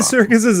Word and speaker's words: Serkis: or itself for all we know and andy circus's imaginarium if you didn't know what you were